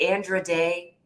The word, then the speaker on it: Andra Day: I used to mispronounce her name, and I keep calling her Andra, but Andra Day.